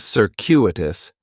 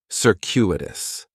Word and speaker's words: circuitous: and circuitous has four syllables. And there's a few things going on with the pronunciation. In the first syllable, that c is going to have more of an s sound. Circuitous. The stress is going to be on that second syllable. And that cu is kind of like you're saying the letter q.